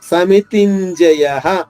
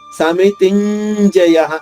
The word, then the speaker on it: సమితింజయ: షాద్విత్వం చేసుకుంటూ 2వ పదం సమితింజయ తీపైన ఆఘాతం తీసుకుంటూ ంజలోని ఞ, యాక్చువల్ గా ఞ ద్విత్వం చేయబడదు, ఆఘాతం ఉంది కాబట్టి మనం ఆ నియమం పాటించాలి. సమితింజయ, జ్ఞాని కొంచెం ఎక్కువసేపు పలకాలి. సమితింజయ.